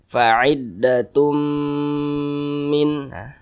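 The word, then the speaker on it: فَعِدَّةٌ مِنْ: Cara bacanya dimasukkan, apa ini dimasukkan? Bunyi tanwin dimasukkan ke huruf mim. Jadi dibaca tum, jangan dibaca tun tapi tum. Fa'iddatum, didengungkan. Fa'iddatum min.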